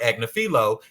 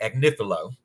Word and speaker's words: Agnifilo: I've been calling him Mark Agnifilo. It's Mark Agnifilo.